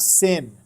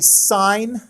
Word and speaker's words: sine: this that word is not sin if you say sin you're just going to drive me crazy a little bit every single time you say okay so it is actually sign that's how you spell it